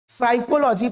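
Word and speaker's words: psychology: तो उसमें पी को भूल जाओ पूरी तरह से। पी एस में पी को भूल जाओ। ठीक है? अब देखो साइकोलॉजी पढ़ते हैं इसमें।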